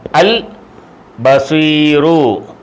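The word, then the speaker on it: البصير: അലിഫ് ആ ഇവിടെ പറയും ഈ ലാമിന് ഉച്ചാരണം ഉണ്ട് ലാലീലൂല് ഇൽ ആ ഇൽ അൽ അൽ ബസീറു എല്ലാ അലിഫ് ലാമിനും ഉച്ചാരണമില്ലെന്നല്ല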